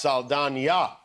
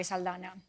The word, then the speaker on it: Saldaña: pronouncing your name incorrectly it's Salan with a teal day no but you haven't been pronouncing it incorrectly ask in my birth certificate at Zoe salana oh I think that